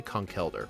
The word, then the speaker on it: Conkeldurr: conkeer or conkyor, but it's spelled c o n k e l which is conkel. And if it was l e, then it'd be con. So yeah, it's definitely coneler.